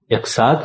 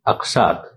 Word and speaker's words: اقساط: عرض یہ ہے کہ ان الفاظ کے پہلے حرف پر زبر ہے، زیر سے مفہوم کچھ سے کچھ ہو جاتا ہے، گویا درست تلفظ الف پر زبر کے ساتھ املاک نہیں املاک، اقساط نہیں اقساط اور اضلاع نہیں اضلاع وغیرہ ہوگا۔ ملیں گے ایک نئی